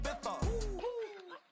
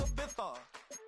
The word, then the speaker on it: Ibiza: I just went to Spain, that's a bither. Ibiza. Yeah, it's pronounced Ibiza, actually.